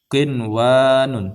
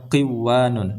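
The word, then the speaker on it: قنوان: Qinwanun, tidak boleh bacanya qiwanun, dan sinwanun.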